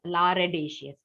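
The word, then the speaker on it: lardaceous: which is done that ladacious speed so remember lardashes remember you can pronounce it as La radicious okay Rd so that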